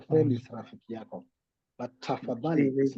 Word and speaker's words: tafadhali: But tafadhali Please.